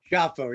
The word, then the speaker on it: Schiaffo: Did I pronounce that right? Giaffo, yes.